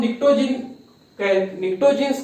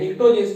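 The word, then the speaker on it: pnictogens: जब नाइट्रोजन family की हम बात करेंगे तो इसको हम निक्टोजीन्स कहते हैं, निक्टोजीन्स, ठीक है। यहाँ पे पी जो साइलेंट है, निक्टोजीन्स कहते हैं।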